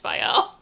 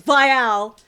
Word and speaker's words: Viall: have to be like, it's Viall, not Viall. Why would you name your podcast the Viall Files Yeah.